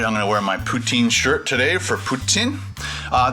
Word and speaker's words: poutine: have a French accent so when I say poutine I say poutine as in as in ptin but if you're French Canadian they say it and almost sounds like there's like an s in it or something so it's more like Puttin and uh but I'm